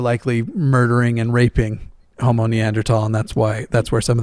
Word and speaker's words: Neanderthal: I think it's something like 4% of the 4% of the population have Neanderthal DNA, and it's actually pronounced Neanderthal, but they have Neanderthal DNA, and